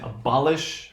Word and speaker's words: abolish: right okay now here we have a three syllable word you know one say it's a Berlioz write in English we're gonna say abolish right now hopefully you can really hear the